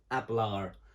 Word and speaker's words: hablar: one we've got is abelar or hablar but we can't really hear the h it's hablar and ablara means to